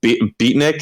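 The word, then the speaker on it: Betnikh: Scrolls Online, like Ordon, or I think it's Beatnik. Is that how you pronounce it? Or Betnik? Betnik, yeah.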